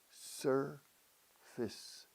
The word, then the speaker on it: surface: Casi una I corta inglesa, aunque se escriba face.